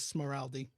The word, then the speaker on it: Smiraldi: Um, my last name is Smoraldi and uh, I don't often say it much online, but uh, yeah.